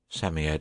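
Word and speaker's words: Psammead: ed or sand fairy Sammy ed is pronounced Sammy ed it was old old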